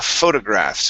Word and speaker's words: photograph: okay right here so a photographs or stress uh here at the very beginning photograph okay so uh he